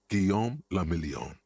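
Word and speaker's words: Guillaume Le Million: Guom lamelion. If it doesn't rhyme, you're not pronouncing it right.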